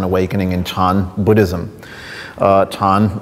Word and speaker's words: Chan: in Chan Buddhism uh tan is the sort of the the the pron the Chinese pronunciation of the character which perhaps uh you're more familiar with as Zen as it become Zen Buddhism in Japan um and uh I